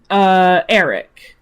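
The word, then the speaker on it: Aeric: This is, Eric. Now, you would think that it was spelled like E-R-I-C, but no, it's not. It's spelled as A-E-R-I-C.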